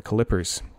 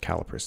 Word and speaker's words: calipers: My clippers. Calipers. It's pronounced calipers. I like saying clippers.